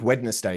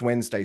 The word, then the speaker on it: Wednesday: word that you know you don't even think weddness day you just you know it's Wednesday straight away because you're you're retrieving the meaning first and then the pronunciation comes afterwards, you don't sound it out and they go, "Oh, wait, no, it's not wetness day, it's Wednesday."